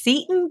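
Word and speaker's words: Seton Hall: Jersey Sean Hall University wait you say it's pronounced Satan this whole time I've been calling it settin Hall no wonder people look at me funny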